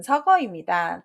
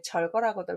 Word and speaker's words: 서거: 답은 서거입니다. 죽었다는 뜻인데요. 거끌절자 때문에 절거라고들 많이 읽으시는데 절거라는 말이 세상에 어디 있어요. 그죠?